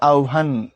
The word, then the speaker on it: আহ্বান: এখন তুমি যেহেতু হসন্ত দিয়ে দিছো, পড়তে হবে আহ্বান, এটা গিয়ে আটকে যাবে আহ্বান। সো উচ্চারণের ক্ষেত্রে হসন্তর ভূমিকা অনেক বেশি।